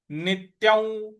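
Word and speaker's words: नित्यं: तो नित्य जातन नित्यौ नित्यौ नी के बाद जो आधा त है उस पर आघात देना है और य के ऊपर जो अनुस्वार है उसका उच्चारण हमें व इस प्रकार से लेना है।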